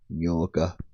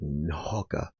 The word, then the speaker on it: nyoka: Nyoka. There it's like Nhoka, which is not the way you pronounce the word.